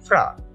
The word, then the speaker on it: franc: আমার হাতে তখন মোটে ছিল 80 ফ্রাঙ্ক। এটার উচ্চারণ হয়তো অনেকে ফ্রাঙ্কস বলতে পারো, বাট ফ্রেঞ্চ যে মুদ্রা সেটার নাম আগে ছিল ফ্রা, এখন যদিও তারা ইউরো ব্যবহার করে, তবে এটাকে বলা হচ্ছে ফ্রা।